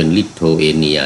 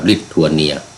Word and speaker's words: ลิทัวเนีย: ลิโทเอเนีย ที นี้ ก็ ออก เสียง เป็น ลิโทเอเนีย นะ อ บ้าน เรา ก็ ลิทัวเนีย ลิทัวเนีย เนี่ย ก็ อยู่